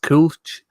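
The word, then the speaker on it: Kölsch: was in cologne and i drank um it's pronounced coach it is honestly one of the best beers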